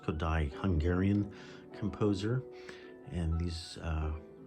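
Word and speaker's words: Kodály: this collection Zoltan kodai his last name is pronounced kodai Hungarian composer and these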